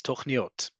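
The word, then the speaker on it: תכניות: Nope, it's tochniot. Tochniot is spelled just like the word, for example, kol. Kol is not spelled with a vav, but you learn to pronounce it like kol.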